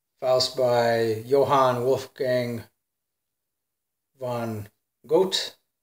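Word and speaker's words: Goethe: by Johann Wolfgang Von goat or ghouta I guess depending on where you live the pronunciation pronunciation changes so yeah this is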